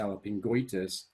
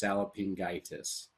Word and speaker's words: salpingitis: begins with a vowel so you wouldn't go sallopingo itis or try to pronounce it together and go sally sallopingwitus because the o and the i would be oit and so you're not going to say cellophingoitus but it would be just salopingitis instead again going back